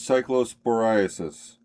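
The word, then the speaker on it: cyclosporiasis: Ira the pronunciation is cycllosporasis. Psychoporasis.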